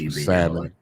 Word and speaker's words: salmon: I guess just who salmon salmon Salon salmon salmon salmon the ill is silent anyway there we go